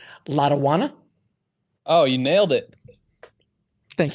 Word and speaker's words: Lotawana: Now, if I pronounce it correctly, Lotawana.